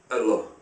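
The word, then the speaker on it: الله: It can also be pronounced Allah. The Arabic word is Allah. The difference is mainly the elongation of the L, Allah, as opposed to Allah.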